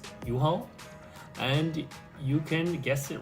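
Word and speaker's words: UHAL: called americo a-m-e-r-c-o um ticker symbol is u-h-a-l so if you actually pronounce that it's u-haul and you can guess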